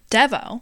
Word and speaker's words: Devo: it's probably my favorite Devo dvo that's clearly Devo I think it's pronounced dvo that's how I always